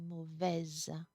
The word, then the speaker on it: mauvais: It's only mauvaise. Mauvaise, mauvais. Do not pronounce here that S. If you pronounce it, we're going to understand that it's feminine.